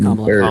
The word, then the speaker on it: Kamala: Number one, her name is pronounced Kamala.